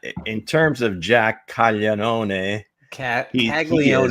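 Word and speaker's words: Caglianone: Uh in terms of Jack Calone, Kagleion is how they pronounce it.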